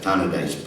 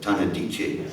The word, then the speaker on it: Tannadice: And then one fortunate night, I attended a football match at Tannadice Park, which is where Dundee United play, or as Peter Sissons pronounces it, Tannadice.